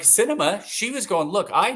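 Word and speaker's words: Sinema: Arizona cinema cinema no that's not how you say it is it that's her name Cinema yeah like the movies that's how you said it y okay yeah we'll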